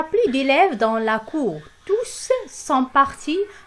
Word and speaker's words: tous: Alors, elle prend toujours le S et ce S-là, on le prononce. On dit toujours tous.